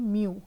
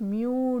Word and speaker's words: mu: तो वो ये चीज़ है म्यू, MU म्यू इसको प्रोनाउंस करेंगे। इसका सिंबल ये आपके सामने है। इसके यूनिट्स को भी हम डिस्कस करते हैं इन डिटेल। सो ये जो लॉ है important, toe equals म्यू डी you over D वाई, this is very